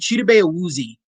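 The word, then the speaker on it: Chidobe Awuzie: cheetah bae woozy and i've heard so many people pronounce his name wrong but cheetah bae woozy cheetah bailes he's been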